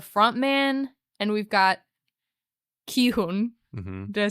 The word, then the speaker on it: Gi-hun: We've got the front man and we've got Gi-Hun. Did I say it right? Gi-Hun.